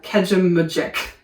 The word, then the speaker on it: Kejimkujik: So, the locals call it Keji National Park. But, it's uh Kejimkujik, I think is how you say it.